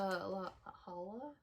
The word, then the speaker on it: La Jolla: were in my brand new bag is the la holla la jolla um we learned how to say